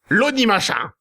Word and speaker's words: Lonnie Machin: Numéro 20, donc, Anarchy, de son vrai nom Lonnie Machin, qu'on ne prononcera pas à la française. Lonnie Machin.